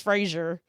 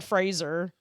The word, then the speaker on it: Fraser: I get names way I've been like mispronouncing Brendan Fraser forever I thought it was Frasier it's Brendan Fraser oh and I just